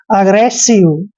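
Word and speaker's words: aggressive: दोस्तों ए करते हैं डबल जी को हमने ग पढ़ना है आर को र पढ़ते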